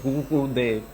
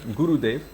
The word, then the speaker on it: Gurudev: If you go to Germany, the pronunciation is different for Gurudev because of the R. It's a different R. It's a Guru, it's in the back of the throat. Gurudev, Narahari. Like that. It's different than you might say in India, Narahari or Gurudev.